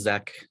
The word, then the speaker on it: Czech: Last name is Zek.